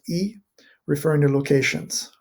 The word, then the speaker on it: y: familiar with it and you'll often find this pronoun written y but pronounced e referring to locations right